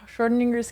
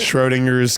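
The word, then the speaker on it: Schrödinger's: He It's Schword Schwininger's cat. How do you pronounce it? Schroinger's Cat.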